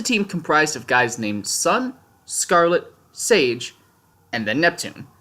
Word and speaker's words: SSSN: team s or as it's pronounced in the world of Ruby sun because unlike the giant panda vowels are still